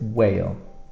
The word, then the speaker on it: whale: Whale, we have an H here that we put to in the spelling, but we don't pronounce it whale.